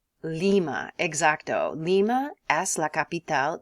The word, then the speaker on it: Lima: Ila capital de Peru sounds like a type of Bean Lima exacto Lima as La